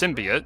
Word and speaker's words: symbiote: It's not symbiote, it's symbiote. It's an actual word in the English language.